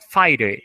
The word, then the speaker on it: fire: Importante aqui da pronúncia, tem até o fonético, muitas pessoas tendem a falar fire, fire, fire, colocando o R, mas é como se na pronúncia não vai ter esse R, ele vai vir no final, fire, essa é a pronúncia correta, fire, tá?